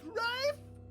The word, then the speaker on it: Ralph: It's pronounced Rafe.